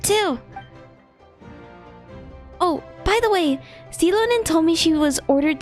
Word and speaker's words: Xilonen: So we'll finally get to meet Xilonen, the legendary Xilonen, forger of that's how you say it.